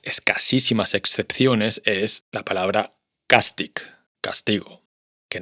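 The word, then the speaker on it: càstig: Mit the una de las escasísimas excepciones es la palabra castic, castigo, que no se pronuncia castich, sino castic.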